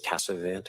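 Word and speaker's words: Casavant: My last name is Cassavant. It's spelled C A S A V A N T.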